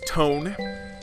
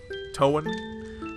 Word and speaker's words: Toan: whose name is Sol his default name is tone for toen toen a as it would be pronounced probably if it was written in Japanese since everything is